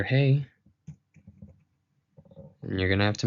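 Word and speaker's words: ה: So the letter HEY is an aspirate, its pronunciation is a breath - a mere exhale, as in /h/, you hear it at the start of words like 'happy' or 'hold', and you can use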